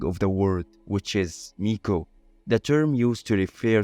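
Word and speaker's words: 巫女: now a lot of people stop at the basic meaning of the word with is Miko, the term used to refer to traditional Shinto priestesses.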